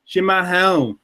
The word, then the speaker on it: chimarrão: The only thing is the not ao. Oh, Shimao. Shimao. Say it My again. Portuguese, man. It's so Chimarrão. Shimahome. Shimahome. That's perfect, Dave. That's very good.